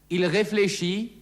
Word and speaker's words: réfléchit: Il réfléchit, denkt nach, il construit, baut. Das T am Wortende ist stumm.